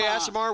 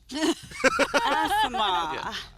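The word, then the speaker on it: Aasimar: You can't say Asimar without ass. Asimar.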